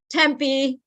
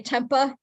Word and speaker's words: Tempe: yeah just like how people mispronounce some of the names in Arizona uh Tempe they say Tempah people that you know come down to visit Tempah and then and then